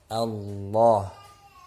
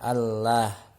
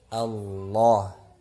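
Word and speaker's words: الله: berharakat fathah ataupun dhammah, maka lafaz Allah ini menjadi tebal, ya, dibacanya secara tebal. Contoh Allah, ya, Allah, huwallah, ya, dan seterusnya. Tidak dibaca Allah, Allah, huwallah, ya, bukan seperti itu, tetapi ditebalkan Allah, ya, huwallah, ya.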